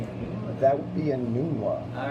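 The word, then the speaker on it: Enunwa: Quincy and That would be a Nunwa. All right. Wow. He Nunwa. looked it up on Webster's to see the exact pronunciation.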